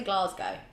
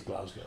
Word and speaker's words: Glasgow: be in GL I I always say it wrong I say Glasgow it is Glasgow we'll be in Glasgow